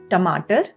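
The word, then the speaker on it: टमाटर: Then we have tomato, which is a tomato. Tomato, both the T's are hard T's over here.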